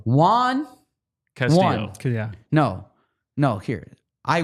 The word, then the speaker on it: won: So it's Juan, just like Juan.